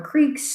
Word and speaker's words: creek: If you're from the Northeast like me, you might call them a creek. It's just a local way that I was taught how to pronounce it. I know it's not spelled C-R-I-C-K, but that's the way that we Yankees learned how to say it, at least from my neck of the woods.